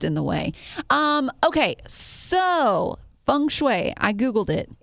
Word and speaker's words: feng shui: Can you spell Feng Shui? Can you spell that real quick? Feng, Fung. Shui. I guess we're saying it wrong because it's Shway. It's Fengshui. Not even close.